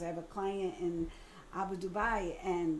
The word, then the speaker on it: Abu Dhabi: have a client in Abu Dubai and that's how you say it. It's not Abu Dhabi. I learned how to say Abu Dubai.